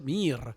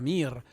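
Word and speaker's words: мир: ruso la paz pronunciada se dice mir, con una I larga, mir.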